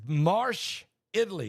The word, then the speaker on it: Marche: It's Marche, Italy. It's spelled M-A-R-C-H-E.